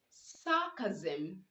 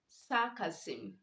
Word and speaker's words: sarcasm: with sm after end you are to pronounce the s making the z sound so you say baptism not baptism you say sarcasm not sarcasm when letter x is